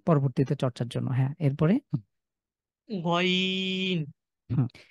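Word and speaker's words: غين: গইনের উচ্চারণ গ, গইনের উচ্চারণ ঠিক খ থেকে। খ এবং গইন, কণ্ঠের আমাদের যে কণ্ঠ রয়েছে, আমাদের গলা রয়েছে, গলার শেষ ভাগ থেকে, একদম জিভ যেখানে শেষ হয়েছে ঠিক সেখান থেকে।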